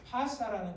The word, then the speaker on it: 바사: 이 발음이요, 제가 분명히 말씀드려요. 발음이 영어 발음은 원어 발음은 못 알아보고 흉내를 못 내요. 우리 한글 성경이 원어 발음에 더 가까이 됩니다. 그래서 바사라는 게 페르시아라는 거예요. 근데 영어로 페르시아 하면 이 사실은 바사 이 발음이 안 되는 거예요.